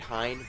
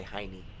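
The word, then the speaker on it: Hyne: I think it's pronounced the Great Hein, but I prefer to say Heine.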